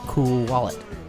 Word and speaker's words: Cool Wallet: and David Floyd of cool wallet it's it's you're supposed to pronounce it with two two words it's a cool wallet